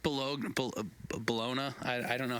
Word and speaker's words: Bologna: He was born in is it pronounced Bologna? I don't know how to pronounce. Yeah. Bologna. Okay. Yeah. Not Bologna.